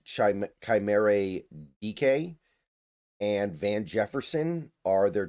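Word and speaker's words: Chimere Dike: Chimere, I believe it's pronounced Chimere DK, and Van Jefferson are their top receivers now.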